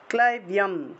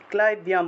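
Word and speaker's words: ক্লৈব্যং: ক্লাইব্যম, ক্লাইব্যম, বয়ের সাথে জফল থাকায় বিয় উচ্চারণ, ক্লাইব্যম মাস্ম গামহ পার্থ, গামা,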